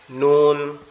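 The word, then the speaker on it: ن: এটার উচ্চারণটা কেমন হবে, লামের মতো, জিহ্বার আগা উপরের তালুর সাথে লাগবে, এই যে লামের মতো, এই যে লামের মতো উচ্চারণ হবে, জিহ্বার আগা উপরের তালুর সাথে লাগবে, লেগে উচ্চারিত হবে নুন, নুন, নুন, নুন, এরকম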